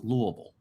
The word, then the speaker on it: Louisville: that yeah yeah and by the way it's pronounced Louisville that just happened in Louisville um and the